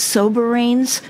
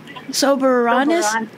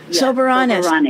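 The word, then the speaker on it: Soberanes: different way to say I always thought it was soberin but you pronounced it differently Mary is it soberanis sober soberanis okay all right now I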